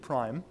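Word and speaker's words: PRME: it like PRM e we actually now a logo have a little eye hidden in the M so it's easier to pronounce it Prime so I'm gonna speak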